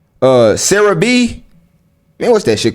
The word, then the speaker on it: CeraVe: Yeah, that's CeraVe. Okay, cool. So, I'm gonna say CeraVe, man.